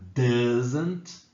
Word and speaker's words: doesn't: Cuidado para não escrever com azinho ali e pensar que a pronúncia é igual à escrita, não é, né? Doesn't é a pronúncia, tá? Não tem um azinho depois do S, não, só na hora de falar.